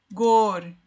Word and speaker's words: gorjeiam: Gorjeiam. Termina em gei, que é a última sílaba tônica.